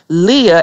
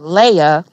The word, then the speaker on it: Leah: guys are mispronouncing it it's actually called Leah and not Leia you know what I'm